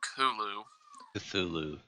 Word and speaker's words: Cthulhu: story the call of Kumu Zulu that's people just pronounce code the co of kahlúa because it's supposed to be that the th is like guttural yes supposed to be alien for him but like people